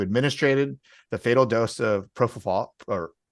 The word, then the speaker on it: propofol: former physician who administered the fatal dose of propofol, or how do you say it?